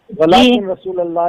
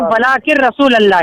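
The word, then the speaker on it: وَلَٰكِن رَّسُولَ ٱللَّهِ: वलाकिन नहीं कहते, यहाँ पर कहते हैं वलाकिन रसूलुल्लाह, ठीक है? जब नून के साथ रे मिलता है तो नून जो है साइलेंट रहता है, वहाँ कहता है वलाकिन रसूलुल्लाह, ना कि वलाकिन नहीं बोला जाता है यहाँ पर, ठीक है ना?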